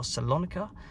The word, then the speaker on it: Thessaloniki: Yeah, that is the striker from PAOK Thessaloniki, or Salonika, as it is sometimes pronounced.